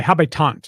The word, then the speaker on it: Habitant: Le Habitant is the French pronunciation for the Habs.